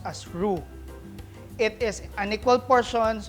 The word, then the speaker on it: roux: cuisine is called drew roux and it is pronounced as roux it is an equal portion of clarified butter